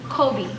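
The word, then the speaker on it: Coby: So it's still pronounced like his favorite basketball player, just spelled different and it means protected.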